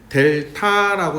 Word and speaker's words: 델타: 요거를 뭐라고 읽느냐? 얘는 델타라고 읽는다. 델타. 그리스 문자 D에 해당하는 거야.